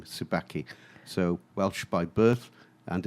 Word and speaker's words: Subacchi: my name is David Tsubaki okay which I must admit I was worried about getting the surname wrong because you it's Abacha Tsubaki Tsubaki there we go it's Tsubaki it's Italian I was born in